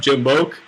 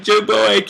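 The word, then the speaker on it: JimboAK: So like everybody always would just call me, "Hey, what's up, Jimboke?" And I think to myself, "No, it's fucking Jimbo AK."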